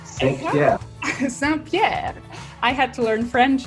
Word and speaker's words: Saint-Pierre: Saint-Pierre.